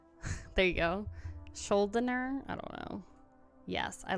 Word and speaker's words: Schuldiner: I never can pronounce his last name. Chuck Schuldiner. There you go. Schuldiner?